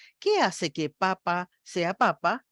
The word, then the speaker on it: papa: La primera es papá, la segunda es papa, es decir, exactamente los mismos sonidos, la misma cantidad de sílabas. ¿Qué hace que papa sea papa y me haga pensar en una papa para comer y que papá me signifique otra cosa?